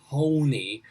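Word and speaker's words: Hoehne: probably again we um it should be pronounced in a germanic way like because it's h-o-e-h-n-e but yeah we we anglicizing american size everything here so it's in colorado they call it honey let me tell you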